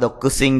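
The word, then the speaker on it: 独身: Tanaka-san wa dokusin desu. Dokusin là độc thân. Độc thân thì đây là chữ giả rồi, không bao giờ đọc là sinh.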